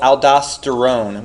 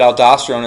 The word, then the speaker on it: aldosterone: that's released is called aldosterone which sounds like the word Stone right so I just associate